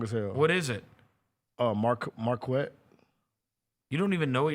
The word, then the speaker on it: Marquette: told me years ago that it was Marquette. It's Marquette, whatever you want to say it, however you want to say Like the college?